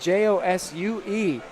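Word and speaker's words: Josué: it's an awesome name it is a Spanish version of the name Joshua it's spelled j-o-s-u-e and it is Josue pretty awesome name there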